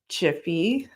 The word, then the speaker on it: GIF: gif Jiffy yes people it's pronounced as chiffy the last newsletter had